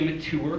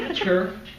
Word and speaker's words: mature: I wasn't ready, or some people say mature, which is so fucking annoying. Because just say mature. It's not like a long U or whatever.